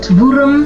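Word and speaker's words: Wurmbrand: So go check out dietric bona and I actually want to give the proper name of Richard Vur. Vurum. Yeah, I said it right.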